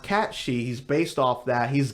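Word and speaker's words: Cait Sith: yeah his name for the longest time is pronounced Kate sit what if I told you his name is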